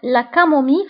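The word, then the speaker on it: camomille: فانتبهوا بالنسبة لا كامومي فتكتب بدو زل وننطقها ب لا كامومي مي.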